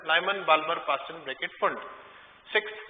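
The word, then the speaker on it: Pfund: तो वो नाम है बाल्मर, पास्चन, ब्रैकेट, हाँ लाइमन भी था, सॉरी ऊपर, Lyman, Balmer, Paschen, bracket, फुंड, P silent है इसमें, पी से शुरू होता है, फुंड।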